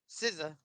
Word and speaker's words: SZA: SZA.